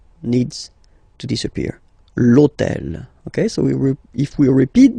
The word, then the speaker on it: hôtel: purpose this hôtel, okay, because it starts with H, but remember that in French we don't pronounce H, okay, so basically the first sound of the word is the vowel O, okay, so for the same reason, needs to disappear.